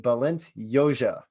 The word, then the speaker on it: Balint Jozsa: about so all the way from australia meet balint yoja what's up man how you doing i said